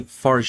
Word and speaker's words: Fargeat: But she is French, so I believe it is Farge.